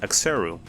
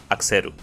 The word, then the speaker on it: Axeru: My name in English is Axeru, but in Spanish it will be pronounced Axeru. There's a subtle change in the way the vowels flow, and it causes some confusion to some people.